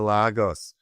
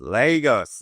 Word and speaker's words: Lagos: But uh that's an insult to logos. Lagos. Lagos. That's how you say it.